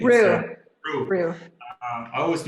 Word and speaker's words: Rhyu: How do you pronounce last name? It's Rue.